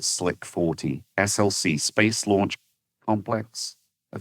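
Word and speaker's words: SLC-40: We pronounce it Slick 40.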